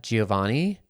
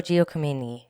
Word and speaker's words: Giacomini: And it was led by Amanda Giovanni and... No, Giacomini is how you say it. Giacomini, sorry.